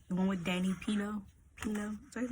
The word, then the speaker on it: Pino: Pino? Is that his name? How's how you pronounce his name?